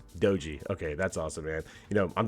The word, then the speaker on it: Doji: Is it Doji or Doji? How does it pronounced? It's Doji. Doji.